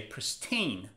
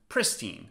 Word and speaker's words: pristine: number one pristine pristine now in American accent the stress is on the second syllable you say pristine but in British accent the stress is on the first syllable pristine but which accent should